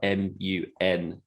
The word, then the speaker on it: Munday: And Monday is spelled Munday.